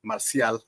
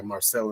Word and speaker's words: Marcial: Or Marcial, I'm going to say his name in Spanish because he goes by Marcel in English.